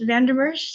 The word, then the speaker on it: Van Der Mersch: This is Lopa, yeah, so Van Der Mersch, Van Der Mersch, did I And pronounce that immersive.